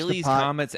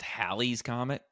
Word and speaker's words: Halley's Comet: For the rest of your life, you have to host Halley's Comet's actually pronounced Halley's Comet?